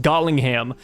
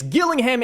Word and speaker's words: Gillingham: I think yesterday I called them something else. I think I called them like Gollingham. But yes, Gillingham and St.